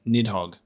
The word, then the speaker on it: Nidhogg: always just pronounced it Nidhogg. Nidhogg from here makes much more sense, with the letter D being like a TH sound in Norse.